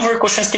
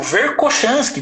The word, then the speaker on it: Verkhoshansky: Então isso é uma coisa que o Verkhoshansky começou a estudar. E assim, agora eu estou falando Verkhoshansky, mas tem hora que eu falo Verkhoshansky, né? Porque a pronúncia dele em russo é Verkhoshansky.